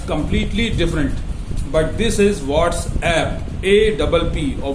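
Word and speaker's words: WhatsApp: तो ये व्हाट्सअप नहीं है, this is व्हाट्सएप, because this is an application.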